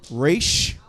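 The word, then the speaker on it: ר: Resh is the R sound. Resh. And we roll your resh.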